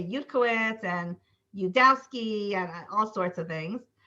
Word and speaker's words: Yudkowsky: In Hebrew, people say Yudkowitz and Yudkowsky and all sorts of things. So it's a hard name. So what we do is Yudkowsky. We separate out the 3 syllables, Yud, cow, ski.